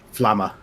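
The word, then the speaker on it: Aure'a Flamma: And how do you spell that name? It's A-U-R-E apostrophe A and then F-L-A-M-M-A. If you're Can a you say it drummer, how? Flama. Do you go by Arroyo? Was it? Arroy. Arroy. Okay. Arroy. I really don't know. I didn't practice the pronunciation, so whatever you guys... I was Do gonna you say, also go by Flama?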